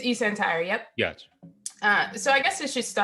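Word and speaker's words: eSentire: how you pronounce it? It's eCentire, yep.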